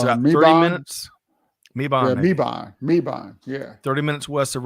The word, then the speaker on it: Mebane: So D says that it's pronounced with a short A, Mabon. And it's about 30 minutes. Mebane.